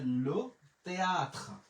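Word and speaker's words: le théâtre: এরপরে এল ও, লো তে আশ, থে বলবো না কারণ আশের উচ্চারণ নাই। তে এ, তে আছে আ, লিখলাম আ, তে এর ও, থয়ের ফলা, তাহলে লো তেয়াত্র, লো তেয়াত্র।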